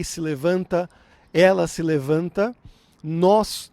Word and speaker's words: nós: levanta ela se levanta nós nos levantamos e toque olha a diferença nós é um som aberto é um o aberto então nós mais ou